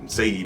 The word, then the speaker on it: Saeed: Saeed is how you pronounce his name, I'm sorry, bro.